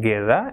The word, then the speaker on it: guerra: So gato, goal, and gusto, and gue will be gay like in guerra, and gui will be gi like in gia.